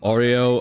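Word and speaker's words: o0o: zero small o z small o so they pronounce it as o Ling o because Ling equals z in m in if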